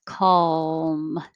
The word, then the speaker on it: calm: is pushing towards the top of my mouth calm calm and it doesn't even have to totally